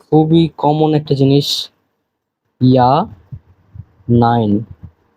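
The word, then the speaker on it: ja: এই যে খুবই কমন একটা জিনিস, ইয়া নাইন, এটা কিন্তু যা না, ইয়া, কারণ যে কে ইয়ট বলে এবং ইয়টের উচ্চারণটা হচ্ছে ইয়ার মতো।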